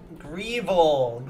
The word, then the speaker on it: Grievel: Grievel. So it rhymes with Feeble, and I thought Grievel was the name of that guy from Yu-Gi-Oh!